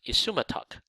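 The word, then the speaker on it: isumataq: It's pronounced isumatok.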